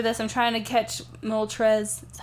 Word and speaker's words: Moltres: yeah yeah picture this I'm trying to catch Moltres is that how you say it yes okay